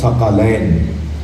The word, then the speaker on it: ثقلین: دیا، اور وہ ہوگا ثقلین. میں تمہارے درمیان 2 بھاری چیزیں نہیں، ثقلین قاف پر زبر.